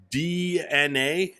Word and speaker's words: DeNA: Nintendo and DeNA. Is that how you pronounce this?